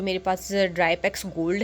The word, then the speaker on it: Drypex: रंग प्रोनाउंस कर दिया ये ड्राई प्लेक्स नहीं है ड्राई पक्स है ठीक है और ड्राई